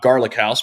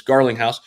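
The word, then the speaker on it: Garlinghouse: um you know uh it's not garlic house but it's Garling house actually I wish his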